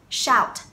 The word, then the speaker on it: shout: Tiếp theo động từ shout, shout, hét, right? Shout. Cái âm C, SH trong này được phát âm là sh, sh, shout, shout. Không C là shout đâu nhé.